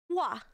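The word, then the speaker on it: ㅘ: Então, vai ser o som de W, né? W mais o A. Então, a pronúncia dela vai ser Wa.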